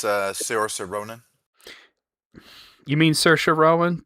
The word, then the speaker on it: Saoirse: Okay, yeah, it's Saoirse. Yeah, that's how you say it.